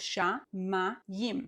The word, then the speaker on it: shamayim: So we have sha, ma, yim. So even though this syllable, the mid syllable, starts with an M, a mem, we have the yim, shamayim.